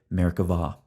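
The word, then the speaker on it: merkavah: see by the way Hebrew grammar requires pronouncing the B as a v so we say Merica VA we're going to approach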